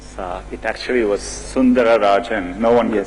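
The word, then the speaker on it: Sundararajan: It actually was Sundara Rajan. No one can pronounce it.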